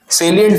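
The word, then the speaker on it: salient: सेलियंट features of द एक्ट। लोग लिख के आते हैं साइलेंट फीचर्स। है ना? साइलेंट नहीं है सेलियंट है।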